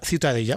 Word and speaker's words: Ciutadella: bueno, para mí la ciudadela es, ¿cómo se pronuncia en Cat? Ciudad Ciudadella.